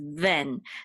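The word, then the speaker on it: בֵן: nun sofit, which is ven. This is the same word as ben, but it's just pronounced with a vet instead of a bet here, but it still means son.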